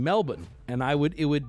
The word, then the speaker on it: Melbourne: Florida and you're like oh look they have a melbin here too and they're like what the fuck it's pronounced Melbourne is that one noteworthy